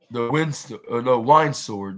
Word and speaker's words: Windsor: No, I flew 3 hours after surgery to Detroit and drove to win the wine sword. That's what it's called. That's how it's pronounced.